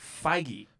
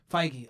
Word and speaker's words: Feige: last name is Feige. Feige. That's right. I kept wanting Wait, to say. did you say Feige?